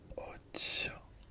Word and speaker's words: ocho: 8 would be ocho. Ocho. Ocho. Ocho. Ocho. Ocho. C and H is always pronounced ch, ch, ch.